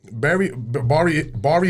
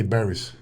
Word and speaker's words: Bari: So everybody says it wrong. Yeah, they say berries. Oh, But it's Bari. okay. So I've been saying it wrong. I mean, I could Bari? be Yeah. Bari. Yeah, Bari, Italy. So it's B-A-R-I.